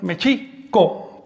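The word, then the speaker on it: Mēxihco: Ahora bien, el acento recae sobre la I, Mexico, porque todas las palabras del náhuatl son graves o llanas, es decir, se acentúan,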